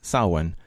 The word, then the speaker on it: Samhain: Fortunately, Sheila did not go into full detail of everything that happens on Samhain, spelled Samhain, but pronounced Samhain.